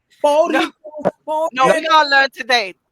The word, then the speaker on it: Boricua: Thursdays we have the What in the boring game? Wait, Nettles, how do you say it, Nettles? What in the Boricua? Boricua.